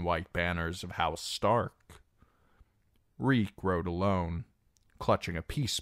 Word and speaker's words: Reek: Reek, Reek. It rhymes with leak.